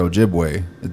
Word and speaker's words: Ojibwe: Like, for example, just take the word Ojibwe. We spell it with the E. Yes. And it's like, what, I forgot who said it there. Like, think of it as how you say cafe. The E in cafe, A.